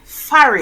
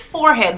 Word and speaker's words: forehead: Another word we mispronounce is farid. Oh Lord. Farid. People, the word is forehead, but we just call it farid.